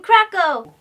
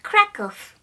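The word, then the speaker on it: Kraków: hey kiss hey grandpa we're in Krakow actually dear it's pronounced krakoff that's right Krakoff is one of the oldest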